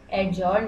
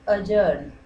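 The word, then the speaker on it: adjourn: second one अजर्न friends यहां पर जो डी है ये साइलेंट है तो एडजर्न नहीं पढ़ना है इसका है अजर्न अजर्न मतलब होता है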